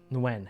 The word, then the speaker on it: Nguyen: Nguyen. Yes, it's like when, more or less.